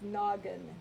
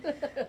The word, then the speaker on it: Noggin: I know that it's actually like noggin, not the way he pronounced it. Snoggin.